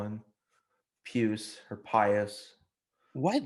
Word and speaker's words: Pius: well obviously it's so in the church it's pronounced pious but i think you know obviously he's pronounced pus but yeah um before